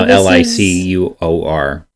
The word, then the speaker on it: liqueur: Yeah, you see that there it's spelled liqueur. Yeah, Liquour. I mean Licour.